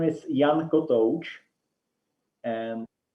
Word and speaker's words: Kotouc: Okay, and kotouc it's divided as kot as something you sleep on, and ouch as when you get hurt. So kotouc. Yeah, and the accent is on the second part of the name, kotouc.